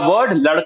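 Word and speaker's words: वो: The Hindi word for this is yay. Okay. Yay. Now this is spelled as y her.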